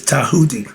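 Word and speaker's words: Djehuti: So it's Tahuti, but it's spelled with a D.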